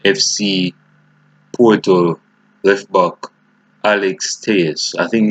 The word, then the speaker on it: Telles: Porto left back Alex Tejes. I think it's Tejes, it's pronounced. Tejes. I think it's Teles or Tejes, but let's call it Tejes.